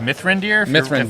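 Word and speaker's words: Mithrandir: on how it's spelled myth rander it's pronounced myth render if it's a Lord of the Rings reference because that's Gandalf's like real name uh another think it's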